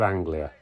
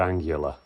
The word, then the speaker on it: Anglia: This is one for my old man, a Ford Anglia. Or as my dad says, a Ford Angular. He still can't say it right to this day.